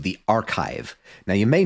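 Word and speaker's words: arXiv: here website called the archive now you may not that that's not how it's spelled it's spelled a RX i v um it is I believe a play on the Greek letter Kai because physicists you know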